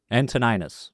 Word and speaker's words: Antoninus: do unfortunately but oh he plays and tone antoninus sorry until I was like I know I've